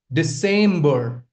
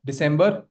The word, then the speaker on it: December: Then we have December. Not December. December. December. December. The stress lies on the second syllable over here.